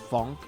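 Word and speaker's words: phonk: guys who make um funk music I think it's see it's p-h-o-n-k but I think I I'm sure it's supposed to be pronounced Funk because like pho like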